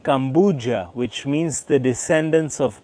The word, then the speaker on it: Kampuchea: The word Cambodia itself, the name of the country today, also comes from the Khmer language, which is actually pronounced something like Kampuchea, which means the descendants of Kambhu.